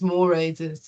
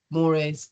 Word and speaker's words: mores: D from moay um which is a Latin word so apologies to everybody who's asked me how to say it it's mores Moray um and it means